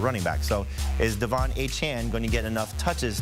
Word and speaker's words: Achane: Let's talk about Devon Achane in that game. Remember, his name is now being pronounced Achane.